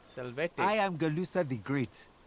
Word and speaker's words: Salvete: Selwete. Salvete.